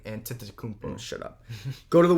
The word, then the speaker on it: Antetokounmpo: brown kevin durant jonathan de kunpo joel embiid hardin middleton bam ben simmons zach levine kyrie irving sabonis i think you missed the syllable and antetokounmpo shut up go to